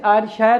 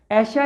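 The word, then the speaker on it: Ayrshire: ऐशा ये लिखा मैंने, जिसको लगता है जैसे आयरशायर हो लेकिन आयरशायर नहीं, इसका प्रोनाउंसिएशन है ऐशा एक काउंटी है, उस काउंटी का एक शहर है डार्वल।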